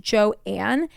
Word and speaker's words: Joan: So she later said that she wanted her first name to be pronounced Joanne, and that she hated